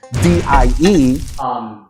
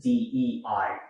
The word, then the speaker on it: DEI: of diversity, inclusion, and equity, otherwise known as DIE. Uncle V, it's actually pronounced DEI.